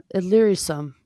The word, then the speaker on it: Illyricum: Well, I can't pronounce the word, but that's where it comes. Elysium? Illyricum.